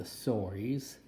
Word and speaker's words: Sorii: They're called the Sories. That's spelled Sorii.